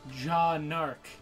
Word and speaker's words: Jaune Arc: is actually John Ark what Jean Ark is pronounced jaune jaune arc jaune arc JA as in je aw and